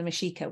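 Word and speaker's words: Mexica: would have called themselves the mashika which is spelled like Mexico but with an A on the end they um they their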